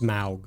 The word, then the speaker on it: Smaug: It's gonna go to this Smog. Pronounced Smaug.